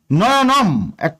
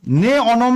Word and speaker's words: নয়নম: অবশ্যই করতে হবে যেমন নয়নম একটা পদ নে অনম না বলে সন্ধি করে নয়নম বলতে হবে এক পদ এখানে নে